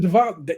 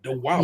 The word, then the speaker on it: Diwali: Dylan is making the Diwali. They do Diwali. They say like that W with a V. All I know it is with a W. Diwali.